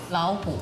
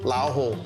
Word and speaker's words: 老虎: 老虎. 老虎.